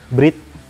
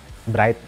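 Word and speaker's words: Bride: lagi memodifikasi h8tam ini dari website Bridge atau dibacanya bright tapi orang Jepang menyebutnya cara pencara pengucapan yang benar adalah Bridge Ayo keluarlah itu braided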